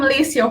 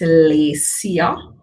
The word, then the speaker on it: Laycya: happy to have you here so i am lacia yes it's kind of long so i'll say it again it's lisia if you don't uh if you